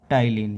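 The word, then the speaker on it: ptyalin: है वो होता है टाइलिन इसम पी साइलेंट होता है टाई टाइलन इसका जो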